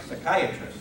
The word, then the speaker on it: psychiatrist: Something like psychiatrist. Psychiatrists begin with the letter P, and of course we don't pronounce it.